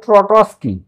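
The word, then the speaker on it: Trotsky: 1917 খ্রিস্টাব্দে লিওন ট্রটসকি উচ্চারণটা হবে ট্রটসকি লিওন ট্রটসকি লাল ফৌজ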